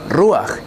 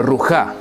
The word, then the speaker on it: ruach: es la letra final, su vocal siempre es la A, y este sonido se antepone del sonido de la het. Por eso pronunciamos ruach y no rujá.